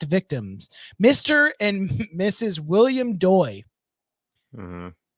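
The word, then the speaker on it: Doi: Well, if you're pronouncing it right. D-O-I. Doy.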